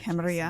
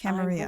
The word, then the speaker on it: Camarilla: The Camarilla has faced many challenges Camarilla. in the past few years. Many So of our that's how you strongholds pronounce it. have fallen. I Camarilla.